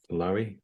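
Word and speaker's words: Loewy: L O E WY from Lowi from from the from the 50s.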